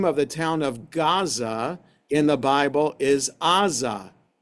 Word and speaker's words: Gaza: So that's why the city of Gaza is called Gaza and not Aza because it's spelled with an iing.